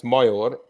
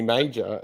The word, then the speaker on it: Major: rude about it SP everybody pronounces my name wrong like it's myor because I'm Hungarian but um everybody calls me major and I'm like I